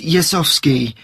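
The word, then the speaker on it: Jezowski: it's Rob okay and your family name it's yasovsky I'll spell that for you it's j e z o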